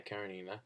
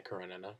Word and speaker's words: Karenina: So, yeah, my favorite book of 2014 was Anna Karenina, or Anna Karenina, depending on your pronunciation, by Tolstoy.